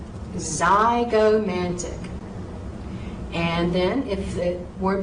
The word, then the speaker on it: zygomatic: Now, words that begin with a Z sound could be spelled with an X or a Z. And don't be surprised if you see some test questions down the road where I might have a word spelled incorrectly with a Z when it should be an X. So, zygomatic, zygomatic.